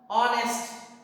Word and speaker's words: honest: When we say our, honest, we are not using H as a H becoming silent and supporting the sound O.